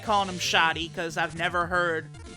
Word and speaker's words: Shadi: That's how they say it in the Japanese version, and I rather like that pronunciation. Shadi. I do like that. So, I don't know. In the English dub, they probably call him Shady, which is cool, because,